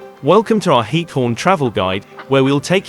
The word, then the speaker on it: Giethoorn: The pronunciation of Giethoorn is approximately Giethoorn, with a guttural ch sound similar to the German ich sound.